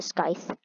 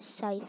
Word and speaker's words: scythe: No, I'm saving up for the skies. Saving up for the sky. Okay, I'll pronounce it scythe when you're here.